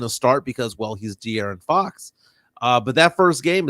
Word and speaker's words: De'Aaron: Everybody's saying you don't say Darren Fox. De'Aaron Fox, his name right. Yeah. I'm going to say his name, Darian Fox, until he can